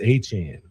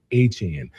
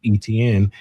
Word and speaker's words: Etienne: is he he um correct everyone on the pronunciation of his last name. It's Etienne. Okay. Remember that? He He told everybody the correct pronunciation pronunciation of his last name is Etienne.